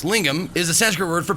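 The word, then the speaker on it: lingam: Um, lingum pronounced lingum is a Sanskrit word for penis.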